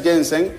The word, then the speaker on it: Janssen: Pero esta Janssen, así se pronuncia, ¿verdad? Janssen, sí.